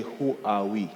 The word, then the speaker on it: Huawei: say I work for Huawei some people say who are we so different people pronounce it differently so we have the